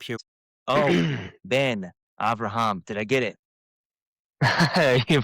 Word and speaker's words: Avraham: Oh, Ben Avraham. Did I get it? You pronounced my name correctly, better than most people in the USA.